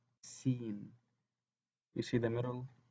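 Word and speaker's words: سين: As we see here, the sin is pronounced as seen.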